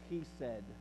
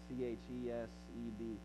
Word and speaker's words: chesed: Loving kindness is a Hebrew word, chesed, is the best way I can pronounce it. You can spell an English way to spell it, C-H-E-S-E-D, chesed.